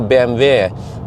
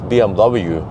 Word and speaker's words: BMW: this but uh recently when i say you know bmv people tried to teach me lecture me no no it's bmw uh so that's where